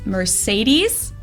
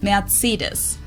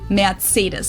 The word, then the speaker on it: Mercedes: in Germany um so most Americans call this Mercedes in German we pronounce it mates so Mercedes versus merus matus so it's really pretty different and the full